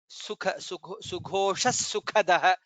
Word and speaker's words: सुखदः: Sughosha sukhadah. Kha is mahaprana.